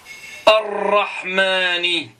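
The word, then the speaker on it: الرحمن: Ar-Rahmani, ar-Rah. Donc c'est un nom solaire. Ash-Shamsu, ar, direct. Je prononce pas l'em.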